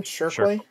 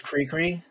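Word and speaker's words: Chriqui: That's how she said it in an interview. So that's I never knew how to say it until she said it in an interview. So I always thought it was Creequy, Creequy or something like that.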